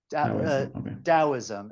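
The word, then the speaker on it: Taoism: like the ah DM dosm it's spelled with a t but it's pronounced with a D sound but t a o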